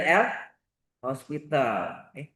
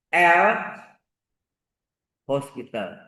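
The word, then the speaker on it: L'Hôpital: Dalil L hospital. Ini orang Prancis, ini nama orang ya. Nggak pakai S. Kalau pakai S, rumah sakit, ya kan? Hospital rumah sakit. Ini nggak pakai S. O, pakai toki itu bacanya hospital.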